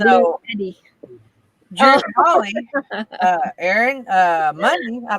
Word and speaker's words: BLUETTI: Well, and it's spelled blue, then TTI is how this one is spelled. BLUETTI. Yeah, Yeah. that's how it was when I Googled it. So, So Blue Eddie.